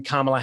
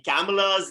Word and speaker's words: Kamala: What are your thoughts on Kamala Harris? Dan, firstly, I want to commend you on your pronunciation of the name Kamala, because most of